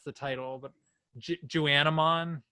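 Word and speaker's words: Juwanna Mann: That I always like forget how to pronounce the title, but Juanamon. Juana Man.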